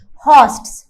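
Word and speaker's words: horsts: क्या बुलाते हैं? हॉस्ट्स। R is silent.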